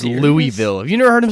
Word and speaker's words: Louisville: how that works like like it's Louisville not Louisville yeah if you call it